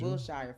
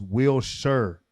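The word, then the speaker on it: Wilshire: The word will is pronounced Wilshshire is often heard in the context of Wilshshire Boulevard in Los Angeles which is pronounced with the emphasis on the first syllable.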